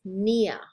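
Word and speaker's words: pnea: different things nia again p before an n you don't pronounce the p it's just nia and again p t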